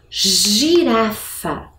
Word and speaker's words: girafa: Olha como a pronúncia é diferente. Gelo, girafa. Lembra muito a letra J, não é? De jacaré, jipe, não é mesmo?